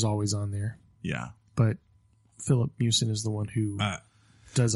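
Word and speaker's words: Filip Miucin: pull their review for investigation into its writer, Philip Mewson.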